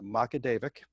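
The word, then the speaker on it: Magaguadavic: she is from macadevic new brunswick it is pronounced macadevic this photo is from about 1885 20 years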